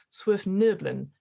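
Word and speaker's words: svirfneblin: but deep knowns or swift nerblin as i believe is pronunciation um they're sort of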